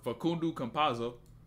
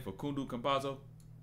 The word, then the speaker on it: Facundo Campazzo: Hey, for Facundo Campazzo. That's how you say his name, Facundo Campazzo. Some shit like that.